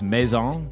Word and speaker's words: Maison: Uh I think it's Maison is how we pronounce it.